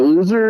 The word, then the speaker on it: Lo(u)ser: how you say it yeah yeah it's loser loser is my little uh eight bitty chiptune ska